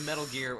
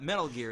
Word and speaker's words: Metal Gear: David it's it's actually not metal gear it's metal gear the emphasis is on the second word why is that it's just the way it's written if you need to think about it just remember Richard Gear Richard Gear I'm looking